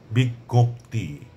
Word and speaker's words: বিজ্ঞপ্তি: যেমন বিজ্ঞান বিজ্ঞান বিজ্ঞান বিজ্ঞপ্তি গ এবং গ দুটির উচ্চারণ আসছে তারপরে অজ্ঞান অজ্ঞান অবজ্ঞা অবজ্ঞা অজ্ঞ